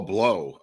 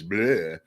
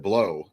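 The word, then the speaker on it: Pleau: say oh Paul blow although it's called p-l-e-a-u it's he pronounced it below I don't care I won't argue whatever Viva says I this is what the guy I thought it was blue but he said blow and so I I'm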